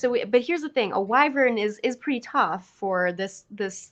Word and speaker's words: wyvern: because it's like a thing I do is mispronounce monster names. Wyvern? Werven? What is it? I think it's wyvern. I say wyvern or wyvern.